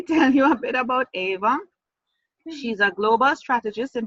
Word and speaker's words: Eivor: Now don't pronounce her name as Eivor. That is what I thought too, but that's why I made sure I got the pronunciation. It's Eivor Johansson, and she's actually in